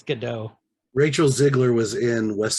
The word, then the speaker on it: Gadot: Eckstein Yeah, I think it's pronounced Gadot. that T at the end. And I was like, how did you not edit that out? I think it's Gadot.